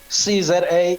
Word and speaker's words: SeeZA: So they can go to CZA, it's spelled SEEZA, one word, dot today.